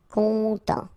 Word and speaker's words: content: Final T not pronounced, so N, en as well. Content.